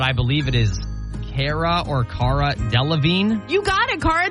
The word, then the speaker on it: Delevingne: But I believe it is Cara Delevingne. You got it, Cara Delevingne.